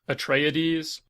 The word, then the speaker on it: Atreides: So, Frank Herbert pronounces the name as Atreides because it's Greek, like the Pleiades, I guess.